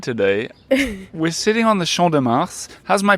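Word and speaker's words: Champ de Mars: I've ever had today we're sitting on the Shand de Mar how's my pronunciation sh de Mar yes it's fine you say it Shand de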